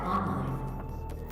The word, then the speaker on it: online: Cannot determine the cause of the demonic invasion until the Rezop satellite is brought back online. Online. Don't you know the emphasis goes on the first syllable?